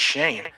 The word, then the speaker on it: Schoen: No, he says it's Shane. No, motherfucker, that's spelled Schoen. So, I mean, that still bugs me. Tell me how the fuck it spells Shane.